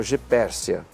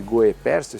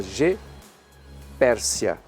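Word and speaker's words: Goeppertia: virou G Pércia e se escreve go e 2p t i a porque o t i a se pronuncia C então é G Pércia o o se não pronuncia porque está na frente do e né então é em vez de GO Pérsia você fala G Pérsia Pérsia elíptica essa aqui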